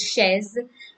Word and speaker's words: chaise: In French, CH or ch always has the sound of sh, as not as the ch in chair. It has sh. So like chaise, it is chaise in French, and chateau.